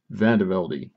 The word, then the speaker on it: Vandevelde: how do you pronounce the name? Vandevelde.